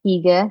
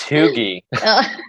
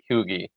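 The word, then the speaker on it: hygge: that adds to the hega or happiness I'm that's pronouncing that right he I thought it was hooie like Huggy like the diapers no I'm totally kidding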